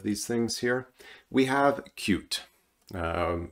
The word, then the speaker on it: Qt: things here we have cute uh many of you know it as QT it is correctly pronounced cute and this is a